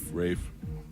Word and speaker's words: Ralph: Rafe.